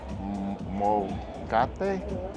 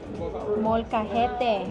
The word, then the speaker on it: Molcajete: They gave us the roasted, I probably mispronounced this, molcate? Molcajete.